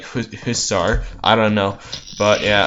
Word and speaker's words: hussar: I told you I'm having trouble pronouncing it because real Hungarians pronounce it hussar, but English people pronounce it hussar. So I'm trying to mix it between the two, like hussar.